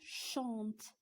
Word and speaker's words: chantes: جو شونت، كيف ما كتلاحظوا حذفنا ار وزدنا je chante، tu chantes، ما كنطقوش بهذيك اس اللي كاينه في tu، كيتسمى lettre muet، حرف صامت ما كنطقوش به.